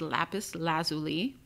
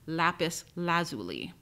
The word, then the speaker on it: lapis lazuli: There are two ways to pronounce this stone. The first is lapis lazuli, and the second is lapis lazuli. It really depends on the region you live in, but the standard dictionaries in the United States place the stress of the second word on the first syllable, lapis lazuli.